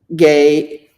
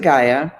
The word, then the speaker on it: Ge: about the worship of the Earth Mother gay gay or some people pronounce it Gaia as it was uh